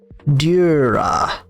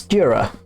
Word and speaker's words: Dura: guess would be like Dura. We've got the emphasis on Dur. So it's Dura.